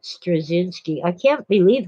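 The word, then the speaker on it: Straczynski: soft C stress zinsky uh anyway he pronounces it strzynski I can't believe how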